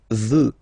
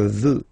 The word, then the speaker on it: veux: Vouloir, first person, je veux, final X not pronounced. Je veux. Tu veux, final X not pronounced, the same form.